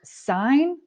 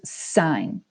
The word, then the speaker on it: sine: words sine cosine tangent the number one mistake that i'll hear kids say is they'll pronounce this as sin no in math this is sine sine cosine tangent now